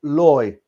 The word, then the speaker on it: Lao: Lao is pronounced Loy.